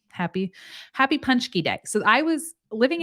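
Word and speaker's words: pączki: hello M happy happy punchkey day so I was living in Michigan I was told that this is pronounced punch key right patsky seems like it would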